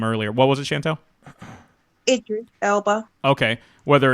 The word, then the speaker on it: Idris: Is it Idris or Edris? Some people pronounce it differently. You know, Chris had made mention in the chat room earlier. What was it, Chantel? Idris Elba.